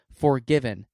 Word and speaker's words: 4GVN: Forgiven. That's spelled 4GVN.